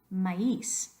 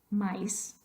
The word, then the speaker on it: maíz: Same thing a couple of words over with the word for corn, maíz. We don't want to say maíz, maíz. Queremos dos sílabas, maíz.